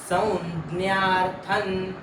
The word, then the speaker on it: संज्ञा: छ ज झ ञ मधला तो ञ आणि ज्ञ असा दोन मिळून जोडाक्षर बनलेला आहे त्याचा उच्चार करायचा आहे संज्ञा संज्ञता मते संज्ञानंताथन तान्रवी